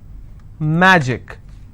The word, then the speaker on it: magic: will stress on track magic i will stress on ma picnic i will stress